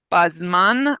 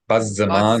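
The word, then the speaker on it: בזמן: And classical Hebrew, we would pronounce this as bazza, bazza, bazzaman, Bazeh. hazeh, bazzaman. But in modern Hebrew, people would Bazman. often say bazman.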